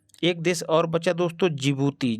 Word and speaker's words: जिबूती: देश और बचा दोस्तों जिबूती जिसमें डी पहले लगा होता है लेकिन डी साइलेंट रहता है तो जिबूती की राजधानी